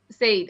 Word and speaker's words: Sayed: Imran Sayed, right? Is Sayed how you say it? Said, okay.